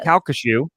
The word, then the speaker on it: Calcasieu: Calcasieu. Did good job. It is spelled Have you heard?